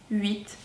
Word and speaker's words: huit: Donc on ne prononce jamais la lettre H, on dit huile, haricot, huître, huit, etc.